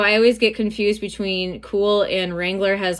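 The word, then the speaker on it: Kühl: This brand is called Cool. It's spelled with a K.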